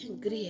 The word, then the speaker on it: गृह: ये ग्राम है और ये गृह है।